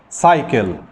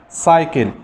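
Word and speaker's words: cycle: سايكل، سايكل، سي واي وبعدين السي حرف ساكن.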